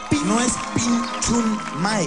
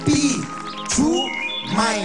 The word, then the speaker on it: Pichumay: Sí, no es Pinchumay, es Pichumay, sin N. Pichumay. Acento en May.